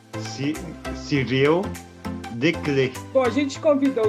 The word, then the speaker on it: Cyril Desclés: Cyril, me ajuda aí na pronúncia do seu nome bonitinho para todo mundo saber, porque o meu francês não vale. O meu nome é Cyril Declé.